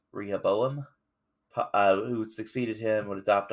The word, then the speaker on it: Rehoboam: to pronounce that uh if you guys want to look it up it's r e h o b o a n rehoboam who succeeded him would